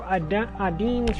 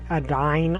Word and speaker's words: Adine: And we are going to continue Adeen's route. I think it's Adeen. I'm not sure if it's Adeen or Adine. I think it's Adeen. Because I've never heard these names pronounces, but I'm pretty sure it's Adeen.